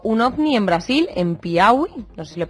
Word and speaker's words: Piauí: Todo el equipo, he leído hace poco que explotó un ovni en Brasil, en Piauí, no sé si lo he pronunciado bien, ¿sabéis algo más? Piauí, sí, eh conozco la historia, eh porque he